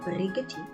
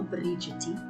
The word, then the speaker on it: Brigety: On the 11th of May 2023, the US ambassador to South Africa, Reuben Brigety, or Brigety, depending on who you listen to and how you pronounce his name, accused South Africa of selling arms to Russia in the dead of the night.